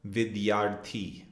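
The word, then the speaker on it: विद्यार्थी: Our next vocabulary word is student, and we would pronounce it vidyaarthi. In Hindi, student is vidyaarthi.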